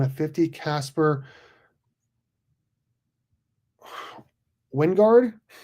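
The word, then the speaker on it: Wijngaard: 1 of 50, Casper Wingard. I guess the J is silent.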